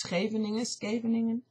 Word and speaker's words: Scheveningen: I don't know how you pronounce that in English, but Dutch is Scheveningen.